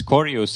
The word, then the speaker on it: Korjus: corus hello hello it's it's nice how you pronounce it my last name cus because in Estonian it's corus and corus means like dead rotting an well